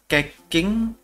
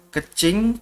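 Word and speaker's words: Keqing: Keking. Oh, sorry. Kalau orang-orang biasanya bacanya Kecing, terus Albedo, Mona, Amber, Barbara, Beido, terus Sucrose, Noel, sama dua lagi ini Sil, Sinyan, sama Diona.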